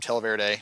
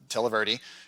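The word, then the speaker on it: Televerde: televerdi i called them i always call them television but televerity is how they pronounce it they're based out in arizona i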